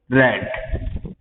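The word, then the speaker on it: read: B must be रेड। क्या आ जाएगा? ये प्रोनाउंसिंग डिफरेंट है, स्पेलिंग सेम है, प्रोनाउंस जो है वो रीड रेड रेड आएगा।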